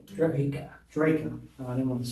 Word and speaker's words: Drejka: You pronounce your name. Dra. Draco.